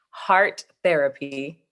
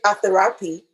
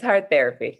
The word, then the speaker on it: hARTherapy: my name is heart therapy oh I was wondering because I would have pronounced it a theapy but I wasn't sure oh Artis no it's heart therapy yes heart therapy wow how come though